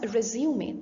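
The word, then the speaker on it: résumé: an applicant's details to procure a job resume pronounced as resume there's a difference even if it's the S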